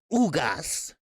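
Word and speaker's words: Ugás: you now now yo dennis ugas it's the correct pronunciation he is a hispanic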